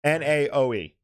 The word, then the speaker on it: Naoe: I gotta see how it's spelled out. N-A-O-E.